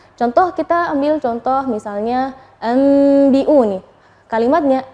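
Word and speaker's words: أَنْبِئُونِي: Nah, tapi ketika kita membacanya anbi'uni terjadi khilaf antara misalnya ada yang bilang bibirnya terlalu ronggang, diun, atau merapat. Itu yang mana sih yang benar? Nah, yang benar adalah kita merapatkan bibir, tapi jangan terlalu menekan, enggak.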